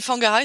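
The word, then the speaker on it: Whangarei: ben voilà mais Fang quandand je dis fangaray c'est wangarai c'est W savais pas que ça se pronçait tu le WH tu le prononces euh F feu ouais Fangar ouais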